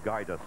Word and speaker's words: Gajdus: Gajdus of Poland. Pronounced, we're told, Gajdus.